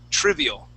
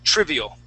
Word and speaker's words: trivial: Okay, let's use a short I, trivial. Trivial. Okay, yeah, one more time, trivial.